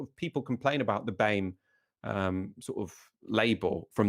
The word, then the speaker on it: BAME: government abandoned the term bain i've been pronouncing it barmay all this time like llama wouldn't then it need